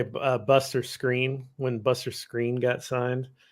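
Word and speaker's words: Skrine: Um, I like send texts to people that they mispronounce names. So, like, let's just say Buster Screen. When Buster Screen got signed, Yeah. there were a couple of us that were saying it Buster Scrine because that's how Yeah.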